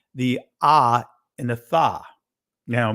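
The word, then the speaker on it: tav: He would actually say the Ah and the Tha. Now, many of you guys would say Tov, right? That's a Israeli pronunciation of the letter. But the ancient Hebrew is the Ah and the Tha, right?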